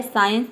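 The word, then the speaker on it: science: साइंस, इसमें देखिए एस सी के बाद आई आ रहा है, साइंस। ठीक है, साइंस में भी एस सी के बाद आया है, इसलिए हम यहाँ पे एस सी को क्या प्रोनाउंस करते हैं, स प्रोनाउंस करते हैं।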